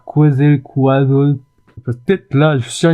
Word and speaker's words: Quetzalcoatl: Je vais faire un petit coup de Google Traduction pour savoir comment on prononce ce mot là. Quetzalcoatl. Ah oui, mais c'est en anglais. En français, Quetzalcoatl. Ah, Quetzalcoatl. Le dieu oiseau de la